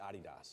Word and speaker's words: Adidas: yeah and hence yeah the Germans pronounce it ADI dos here in America though I think we say Adidas but in any case